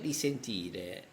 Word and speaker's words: risentire: You have only to change the first E of resentire, the first syllable, you have to change E with I, okay, risentire.